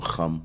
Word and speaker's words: Ham: right come okay um that's how you say it in the hebrew hum it's where you get